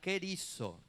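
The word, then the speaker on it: κηρύσσω: La palabra griega que define al predicador es la palabra kerizo. Se escribe con K, no tengo el pizarrón hoy. R, Y, acento en la Y, S, S-O, kerizo.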